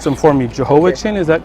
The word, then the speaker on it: Jehoiachin: And I'll let you pronounce them for me. Jehoiachin, is that correct? Jehoiachin, yeah.